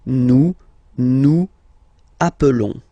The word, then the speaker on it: nous appelons: Okay, nous appelons. And then little link would be perfect, so let's pronounce the whole thing again. Nous appelons. Nous appelons. Okay, final S doesn't exist.